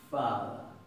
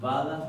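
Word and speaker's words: hvaða: Esto se va a pronunciar fada, fada, kfada, kfada, ¿verdad? No se va a pronunciar vada ni vada, kfada, como si le pusiéramos una KF adelante y la F suavecita, casi mezclándola con un sonido más original de la V.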